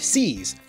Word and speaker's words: seize: by an I, and c's, with an ei pronounced e, not a.